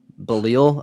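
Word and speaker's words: Belisle: Bilisel, Matt Bilisel. Oh, Matt Belil. Belil.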